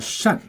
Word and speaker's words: 扇: Now this one has another pronunciation called 善. So when you pronounce 善, that means it's a verb, okay, to mean cover.